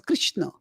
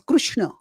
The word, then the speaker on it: Krishna: So Krishna is pronounced in some places Krishna, some places is pronounced as Krishna, and these are acceptable variants within the broad tradition.